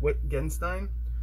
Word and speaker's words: Wittgenstein: Today's guest is, I think Witt Genstein. I'll have to ask him how he pronounces his name, but he'll be coming on shortly.